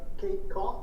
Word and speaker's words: Cough: Jarvis, so today, The Ellsworth American is gonna be starting the questioning, Kate Cough - am I pronouncing your last name right Kate? - You are just like it looks, unfortunately.